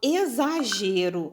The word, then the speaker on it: exagero: som de z tá quando eu falo exagero a palavra se escreve com s ou com x aliás desculpa mas ela tem o som de z então a gente